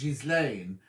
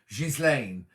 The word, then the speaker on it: Ghislaine: Now, I say that your name is Ghislaine, but am I supposed, is the S silent? Should I be saying or something like that? It's spelled Ghisli. Ghislaine. Ghislaine. But I think I'm not supposed to pronounce the Giz, am I, in the middle? Good afternoon from sunny Quinn, says Ema.